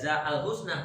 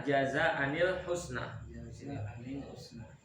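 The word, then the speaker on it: جَزَاءً الْحُسْنَى: al-kahfi ayat berapa tuh jangan dibaca Al Husna tapi jaza Anil Husna ada di surat al-kahfi bisa dicari nanti jadi surat al-kahfi ada ayat yang dibacanya harus jaza annil Khusna di ayat 88 kalimatnya saya foto di sini di grup ya nanti saya kirim itu cara bacanya adalah jaza annil Husna Coba langsung bisa lihat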